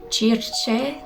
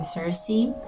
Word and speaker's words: Circe: are drawn to the Circe. That's how I like to pronounce her name, but I'm sure that if you are English speaking, you may pronounce her name Circe.